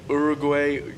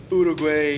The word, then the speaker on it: Uruguay: I played in Uruguay. Uruguay.